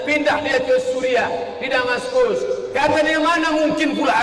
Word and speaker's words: Damaskus: Yordania ibu kotanya Amman, Palestina ibu kotanya Baitul Maqdis, sedangkan Suriah ibu kotanya Damaskus. Tulisannya pakai C, jangan bacanya Damascus.